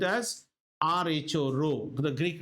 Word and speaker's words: rho: This is spelled as RHO, rho, the Greek letter rho.